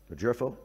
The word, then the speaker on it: LoGerfo: The jero. It said it's it says here it's a soft G.